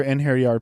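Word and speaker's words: einherjar: basically it's Hotel Valhalla it's inir e singular in hair yard plural if I remember correctly thank you DJ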